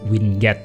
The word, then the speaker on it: winget: Word Microsoft ya ini boleh baca winget boleh tapi saya bacanya Win gate ya atau wind so